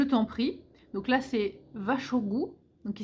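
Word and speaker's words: vær så god: Donc là, c'est vachogu, donc qui s'écrit var, plus loin so, plus loin gu, c'est vachogu. Donc en phonétique, c'est vraiment vache, au, gu, vachogu.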